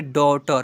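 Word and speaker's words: daughter: कॉट डी ए यू जी एच टी ई आर इसे पढ़ेंगे डॉटर क्या पढ़ेंगे बच्चों? डॉटर सॉरी डॉटर लिखा हुआ है कि डॉटर लिखा हुआ है। डॉटर लिखा हुआ है। औ के रूप में उच्चारण करेंगे।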